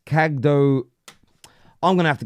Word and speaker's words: Kadıoğlu: Kadıoğlu. Kadıoğlu is how it's pronounced.